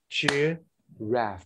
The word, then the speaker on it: giraffe: a stressed syllable if if i say for example giraffe they're gonna act like this cheer raf because the second syllable is rest okay cheer wrath what